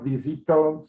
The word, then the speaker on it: visitó: And, you know, we try to emphasize, and you did say it correctly, punching the O at the end.